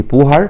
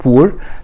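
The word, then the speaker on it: Bohr: ناخد بالنا هنا الاتش سايلنت ما بنطقهاش، ما حدش يقول لي بوهر، لا اسمه بور.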